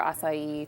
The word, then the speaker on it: acai: So if you want more acai tones, then you would put more acai, less fruits. Acai. And it's spelled A-C-A-I.